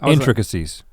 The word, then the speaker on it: intricacies: Intricacies. Intricacies. That's what I was saying the whole time. So we wanted some extra syllables in there.